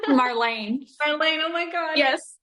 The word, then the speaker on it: Marlayne: Victoria, the self-love scientist here, and today I am blessed to be in the presence of, I'm going to say it wrong, Marilyn. Marlayne.